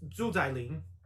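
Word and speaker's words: Xu Xialing: Yeah, so including her last name, which is also Sean's, it's Zhu Zailing.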